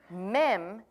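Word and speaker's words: מ: men is this is wonderful it's a demonstration mem this is the this is how you spell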